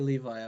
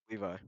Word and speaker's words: Levi: Is it Levy or Levi? I want to say it right. Levi.